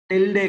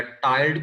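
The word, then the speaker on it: tilde: अब ये जो बॉन्ड है, ये देखें, इस बॉन्ड को टिल्डे कहा जाता है, या टाइल्ड कुछ पढ़ते हैं, कुछ टिल्डे पढ़ते हैं, ये according to your need pronunciation जो भी है, ठीक है।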